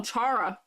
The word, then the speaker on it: Chara: Phil can't decide if Kara is pronounced like character or Charizard. Oh, Chara. That's interesting, because I pronounce it Kara.